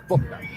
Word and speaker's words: Bouknight: And I know how it's spelled, but it's Bouknight.